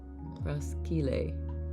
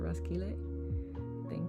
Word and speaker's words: Roskilde: Roskilde. Is that how you say it? Roskilde?